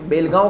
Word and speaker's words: Belgaum: बेलगाम, इसको प्रोनाउंसिएशन बेलगांव किया जाता है। स्पेलिंग जब आप करोगे तो बेलगाम लिखते हो।